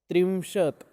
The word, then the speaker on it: त्रिंशत्: त्रिंशत् याद रहे हाँ इनका प्रोनाउंस, त्रिंशत् तो को हलंत है।